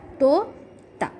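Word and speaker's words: तोता: symbol of O, and the second ta it's used with the symbol of A. That's why we pronounce it as to ta, to ta.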